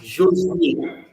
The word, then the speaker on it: Josué: So Joshua in French is Joshua. Josué.